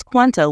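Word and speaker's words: cuánto: couple of Corrections one it's Quanto with an accent on the a two the word is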